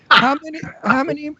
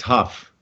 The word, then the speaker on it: Hough: How many men that don't know who you are and hear your name want to date you? Because you're the Ho. It's actually pronounced Huff.